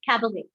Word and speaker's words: cabaret: So what do you notice in this? We are not pronouncing your T. You get it? We are not pronouncing the T.